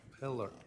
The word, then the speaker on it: Pillar: Polar. Detective Polar. Uh on I always say your name wrong. Pillar. Pillar.